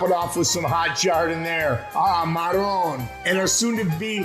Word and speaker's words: giardiniera: And hey guys, when you're at the register looking at me, don't look all nervous and say gardenia. It's pronounced giardiniera.